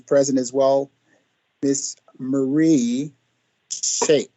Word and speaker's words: Schaap: And then the other who is present as well, Miss Marie Schaap. And I want to make sure I pronounce that right. German, Schaap.